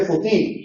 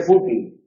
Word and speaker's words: fútil: No se dice futil, se dice fútil, no se dice metamorfosis, sino se dice metamorfosis, no se dice metamorfosis.